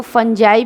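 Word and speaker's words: fungi: Bacteria है, फंगी है, इसको फंजाई भी कहते हैं, है ना, प्रोनाउंसिएशन इसका जो है फंजाई भी है।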